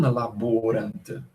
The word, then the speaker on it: laborant: Esse O é longo. O Rony, lembre-se, não marca a penúltima sílaba se ela for longa, ele só marca se for breve. Se não tiver na penúltima sílaba nenhum sinal, é porque ela é longa e, portanto, a sílaba tônica estará sobre ela.